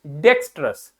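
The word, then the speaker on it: dexterous: आर ओ यू एस डेक्सस क्या पढ़ते हैं इसको डेक्सस डी ई मतलब डे एक्स मतलब एक्स टी मतलब टे हमने वो श वाला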